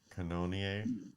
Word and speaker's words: Cannonier: name here no yeah it's like cannon but with an o and then ier cannonier i don't know he's